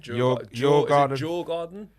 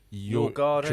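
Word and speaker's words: Djurgården: Jaw garden. Your garden. You're going home. No. You're going back. They must pronounce They They pronounce a D. It's not a silent D, is it?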